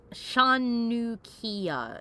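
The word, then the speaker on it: hanukkiah: Shanukia is how Doc says it's supposed to be pronounced.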